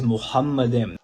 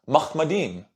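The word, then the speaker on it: מחמדים: Not only that, Muslims using this argument will say that the word is actually pronounced. The word in Hebrew is Muhammadim. But here on planet Earth, all Hebrew linguist scholars are unanimous that the word is pronounced Mahmadim.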